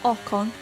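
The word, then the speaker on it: Ocon: and Aston Martin we're gonna go now with okon correctly pronounced there oh just beautiful we're now up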